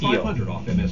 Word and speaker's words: Thiele: You're not the first one, but my last name is actually pronounced Thiele, like the duck or the color. Thiele.